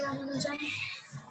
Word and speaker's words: Ramanujan: I want you to pronounce his full name, A.K. Ramananjan. Adipati Krishna Swami Ramanujan.